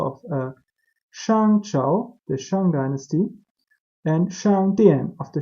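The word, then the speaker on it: 商: This is the Shang Dynasty. The English people say Shang Dynasty, but the correct pronunciation is Shang Dynasty.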